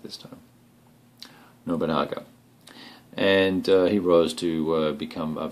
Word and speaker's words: Nobunaga: So in the very first turn, the Oda clan moves first, and Nubanga, or I should say Nobunaga is the correct pronunciation of that, I believe.